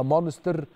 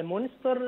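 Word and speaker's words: Münster: لأن أنا لما أجي أقراها عربي أو أقراها إنجليزي هنطقها مانستر، فأنا مش عارف النطق كده بالألماني يبقى اسمه إيه؟ اه فعلا مونستر هي فعلاً؟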